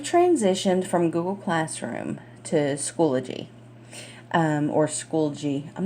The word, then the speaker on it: Schoology: It looks like Schoolology, but I don't think that's how you pronounce it. So we're going to go with Schoology.